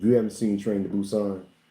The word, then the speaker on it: Busan: Busousan. Busousan, right? It's Busousan. Busan.